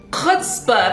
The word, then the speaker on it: chutzpah: Chutzpah. If there's not like 3 pounds of spit coming out of your mouth when you're saying it, you're not saying it right.